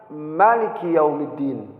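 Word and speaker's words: مالك يوم الدين: Maliki yaumiddin silahkan ya tapi yang lebih masyhur lebih banyak yang membaca yaitu dengan ditetapkannya Alif yaitu Maliki yaumiddin Tetapi ada juga yang bacanya dengan dipendekkan ya ada sebagian dikatakan ya tidak begitu banyak tetapi di dalam pembacaan kalimat dengan kalimat dependekkan kalimat Maliki itu nilainya tidak apa-apa jadi di sini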